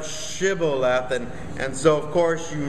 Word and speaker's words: Shibboleth: to do and and the people of Ephraim never you know had this sh sound so they couldn't pronounce it so they're saying Sybil left instead of shibble laughing and so of course